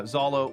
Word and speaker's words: Zehollow: Yeah, Zehollow, which is spelled Zeollow. I was saying it's like Massachusetts rules where it the way it's pronounced looks nothing like it's spelled.